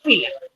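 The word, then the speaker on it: φύλλο: Se escribe pila, pero se pronuncia fila.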